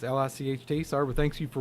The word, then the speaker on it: Licht: Is that just another way to pronounce Light? It's Licht.